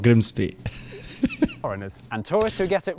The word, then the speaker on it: Grimsby: be tricky to pronounce take this place look crimsby what if we told you it was pronounced no it's not we'd be lying it's grimsby yeah but other places can